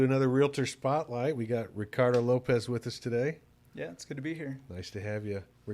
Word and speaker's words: Ricardo: We got Ricardo Lopez with us today. Yeah, it's good to be here. Nice to have you. Ricardo. Yes. What, Richard? Ricardo.